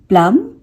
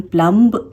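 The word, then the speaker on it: plumb: ये बी जो है लास्ट वाला बी वो साइलेंट हो जाएगा। फॉर एग्जाम्पल प्लम, यहाँ पे हम बी को नहीं प्रोनाउंस करेंगे, इसे हम प्लम्ब नहीं बोलेंगे, ये होता है प्लम, प्लम।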